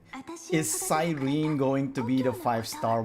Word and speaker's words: Cyrene: The Japanese pronunciation of Cyrene is Kirene. What does that mean? Oh no, because basically they're not doing Cyrene. They say the C is hard C, so Kirene is how they pronounce her name.